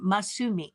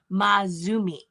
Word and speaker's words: Masumi: And Masumi was, this is how you say her name, Masumi, not Mazumi, which is what I kept saying.